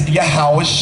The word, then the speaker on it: Yahawashi: the isupk school you'll learn the proper pronunciation in the Hebrew what Christ is name when he walked to Earth and his name is is yahawashi that's right understand that